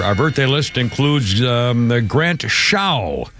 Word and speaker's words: Show: Our birthday list includes Grant Shaw, S-H-O-W. I think you pronounce it Shaw.